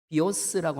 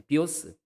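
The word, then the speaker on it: βίος: 그 중에 대표적인 것이 비오스라고 하는 단어가 있습니다. 우리가 영어에서 바이오라고 알고 있죠. 예, 그 I자를 영어에서는 I라고 발음하니까 바이오가 되고요. 예, 여기 라틴어나 헬라어에서는 그냥 E라고 발음하니까 비오가 됩니다. 예, 비오스.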